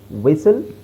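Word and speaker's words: whistle: ಆಗಿರುತ್ತೆ ಆಮೇಲೆ ನೋಡಿಎಸ್ಟಿಎಲ್ಎಸ್ಟಿಎಲ್ಇ ಕೊನೆಯಲ್ಲಿಎಸ್ಟಿಎಲ್ಇ ಬಂದರೆ ಈಟ is always silent ಇಲ್ನೋಡಿ ಕಾಸಲ್ ವಿಸಲ್ ರೆಸಲ್ ಈತರ ಕೆಲವು ಪ್ಯಾಟರ್ನ್ ಅಷ್ಟೇ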